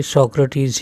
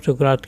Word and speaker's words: Socrates: जहाँ जहाँ है वहाँ आप इसे सुकरात नहीं बल्कि सोक्रेटिस ही बोलें। ओके, जब हिंदी में बात चली तो आप सुकरात कह सकते हैं, otherwise the right pronunciation is सोक्रेटिस। सोक्रेटिस क्या थे, कैसे थे,